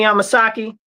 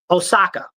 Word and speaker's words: Osaka: Naomi Amasaki. the tennis player. Yeah, she was just at the uh what is it? Omasaki. I think it's I I don't want to say the lady's name wrong. Osaka.